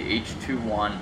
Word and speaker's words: H2ONE: here it h2 and as they pronounce it out and lettering as h 21 calm you can see